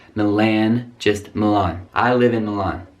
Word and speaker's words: Milan: And another Italian city, be careful with this pronunciation, Milan. It's not Milan, it's not Milan, just Milan.